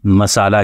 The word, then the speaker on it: مسالہ: جو بھی کیا جائے، اس کا تلفظ کالا اور پالا ہی کی طرح یعنی مسالہ کیا جاتا ہے، لہٰذا بہتر یہی